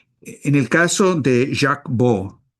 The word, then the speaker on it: Baud: En el caso de Jack Bo se escribe B A UD, pero es un eh periodista suizo, se pronuncia B Jack B.